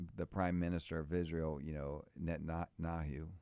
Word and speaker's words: Netanyahu: We need someone that can, when the Prime Minister of Israel, Netanyahu, right? How you pronounce his?